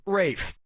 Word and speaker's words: Ralph: like yeah ray finds first name is spelled like Ralph but pronounced Rafe and his brother Joseph